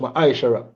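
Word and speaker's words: מעשר: Means tenth in the Hebrew and is pronounced ma'ashara.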